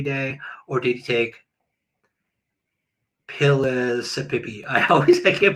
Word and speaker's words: Pellissippi: take topside every day or did he take pillisipi I always I can't pronounce it pillisipi Uh the family I think the person I've spoke to said Pellissippi that's what he took.